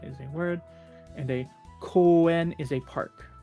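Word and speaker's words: 声: Koe.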